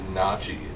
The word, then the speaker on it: gnocchi: pronounce it right. It's nachi.